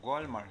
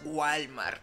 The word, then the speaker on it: Walmart: No es Walmart. Acá arriba. Walmart. No Walmart. Walmart. Walmart. Al final. Tienes que pronunciar la T.